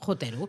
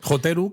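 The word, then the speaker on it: ホテル: Hoteru, que de hecho viene del inglés hotel, y por eso precisamente en japonés lo vais a ver escrito en katakana con 3 sílabas, la de ho, la de te y la de ru. Exactamente.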